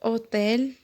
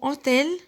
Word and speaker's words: hôtel: Mais ici, on voit que le mot hôtel, il commence par un H muet.